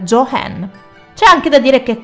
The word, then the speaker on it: Joan: ballerina è comparsa lascia il campo alla futura star del cinema, Joan Crawford, che secondo il volere dell'attrice avrebbe dovuto essere pronunciato come Jo Hen.